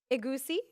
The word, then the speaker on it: egusi: Egusi or ogbono? Did I say that right? Did I say that right? She said it right, y'all.